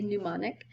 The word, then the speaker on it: pneumonic: of plague was the pneumonic plague that's a silent P pneumonic um this was less